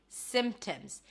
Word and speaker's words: symptoms: Well, there is a P there, but you don't have to pronounce it.